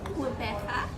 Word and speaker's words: Gqeberha: And secondly, how would you teach somebody else how to pronounce it? Okay, so I tried to say it. It is Gqeberha.